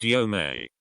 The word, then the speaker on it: Yom: That would be considered a Yom. Pronounced Yome. You me. You with me experience.